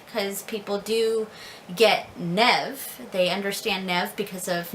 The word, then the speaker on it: Niamh: Most people in America call me Niamh, Naomi, Naima, you know. That's usually what I'm referred to in America here. So I usually introduce myself as Nev, because people do get Nev.